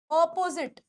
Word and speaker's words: opposite: सही क्या है? opposite. opposite ये प्रोनाउंसिएशन. opposite. opposite. ये वर्ड के बीच में मैंने डैश क्यों लगाया है? क्योंकि इसको अलग बोलना है, इस पे थोड़ा फिर हल्का सा गैप देके साथ में बोलना है.